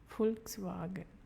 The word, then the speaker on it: Volkswagen: site zra zra Thea on V which is f because v stands for f f f FKS swagen Volkswagen for for the AA